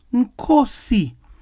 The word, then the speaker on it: Nkosi: In Zulu, the word is pronounced Nkosi, leader, king, lord. The A and Z in Kazi are focalized as O and S. So we have Nkosi.